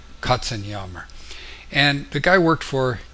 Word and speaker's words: Katzenjammer: And in German, it's pronounced Katzenjammer.